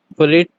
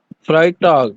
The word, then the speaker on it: Freitag: डीस्टॉक, मिटवाह, डोनस्टॉक, फ्रेट, अब यहाँ फ्राइट, अब यहाँ पे ई आई है तो आई के पास, फ्राइटॉग, या सैमस्टॉक, जेड के